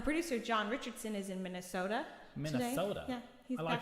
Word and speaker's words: Minnesota: minnesota yeah he's alive in minnesota it's like a really small can of coke mini soda oh my gosh and that is the comedy there we go so if you ever need to know how to say it mini soda oh well like going